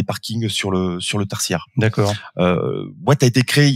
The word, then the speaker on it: Waat: Vous êtes PDG de Watt, qui s'écrit W-A-A-T, une société spécialisée dans l'installation de bornes de recharge pour voitures électriques.